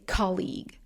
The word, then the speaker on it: colleague: But then I got some feedback, and I was told to always say colleague, colleague, the first syllable. Because if you don't keep the right stress, the right syllable, things are going to sound a little off.